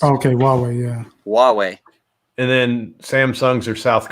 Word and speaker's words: Huawei: so Hugh Jass says Huawei is how it's pronounced okay well yeah Huawei and then Samsung's or